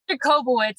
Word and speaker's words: Jacobowitz: it's Jacobowitz.